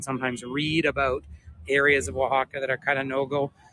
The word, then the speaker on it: Oaxaca: Oaxaca I know that a lot of visitors really struggle with the name Oaxaca but if you'd imagine just with a W you learn to pronounce it very quickly isn't that just gorgeous